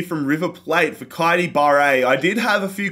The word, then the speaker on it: Barre: Transfer offer here from River Plate for Kaidi Barre. I did have a few comments in the last episode because I was calling it Bear, and I wasn't certain. Barre is how I pronounce it, so I'm going to